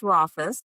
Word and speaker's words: Rauchfuss: All right, it is pronounced Rafus. When I do any of my speaking for introductions, I always say rhymes with office.